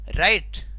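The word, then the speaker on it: write: डब्ल्यू अपना उच्चारण खो चुका है क्योंकि डब्ल्यू के बाद आर आया, नियम का अनुसरण कर रहा है।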